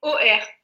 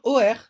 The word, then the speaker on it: Hauer: OR. Ah, on prononce OR.